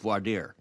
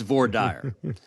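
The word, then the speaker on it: voir dire: selecting juror jurors, it's it's spelled vo i r d i e. And and in many parts of the country, that's pronounced vardier. In Texas, it's vorire.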